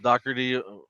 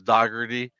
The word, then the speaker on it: Dougherty: like Chief did, but my last name is actually pronounced Dougherty from um, my dad's side of the family mispronounced it for a long time, and I brought back the Irish um, way of saying it, which is Dougherty.